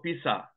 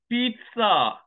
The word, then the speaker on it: pizza: I came to USA first I asked for Pisa Pisa no it is pronounced pizza not pizza pizza there's a tea there's no